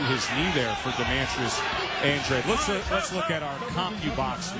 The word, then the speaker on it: Andrade: His family comes from Cape Verde descent, so they pronounce their last name Andrade instead of the traditional Spanish Andrade.